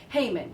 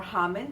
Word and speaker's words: Haman: And his head honcho for him was Haman, or Haman, depending on how you want to pronounce it.